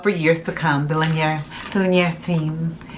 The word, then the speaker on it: Linjer: The Linjer team. It's Norwegian, by the way. Just love that. You can pronounce it as linear too.